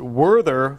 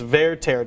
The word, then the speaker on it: Werther: lack of opera knowledge when i pronounce it werther like werther's original which is not correct it's verteira tell us about this